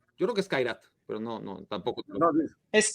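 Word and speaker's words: Kairat: Ahora, vos corregime, Khairat, ¿cómo se pronuncia? Yo creo que es Khairat, pero no, tampoco. No, es Khairat.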